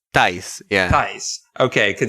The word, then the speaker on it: Thijs: We have This is the weirdest name pronunciation to me. So it's apparently Ties. Ties, yeah.